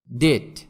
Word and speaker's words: debt: ডেট, DEBT, এখানে বি এর উচ্চারণ হবে না।